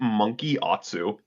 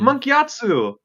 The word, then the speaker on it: Gyatso: I'm sure he says his name differently, but He yeah, says it like Monkey Atsu. Monkey Like Atsu. that's how he kind of how he pronounces it in the show. It's like Mm. Monkey Atsu.